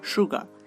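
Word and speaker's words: sugar: এখানে কিন্তু সুগার নয়, সুগা। দেখুন এখানে আমরা যে উচ্চারণটা করছি এখানে আর এর যে রটা উচ্চারণ করি সেই রটা হালকা উচ্চারণ করতে হয়, সুগা।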